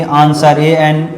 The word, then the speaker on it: answer: में भी होता है, जैसे कि आंसर ANSWER, तो यहाँ SW है तो यहाँ पे W वर्ड साइलेंट होगा, आंसर, ठीक है।